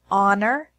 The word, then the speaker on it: honor: There are also some words that have a silent H in English, such as hour, honor, honest, herb, air.